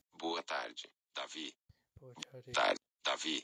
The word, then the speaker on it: tarde: I want to pronounce it like a regular English D boa tarde, instead of a gia. Boa tarde, Davi.